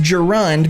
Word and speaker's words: gerund: Gand or present participle what's a Garand Gand pronounced gerund means a form that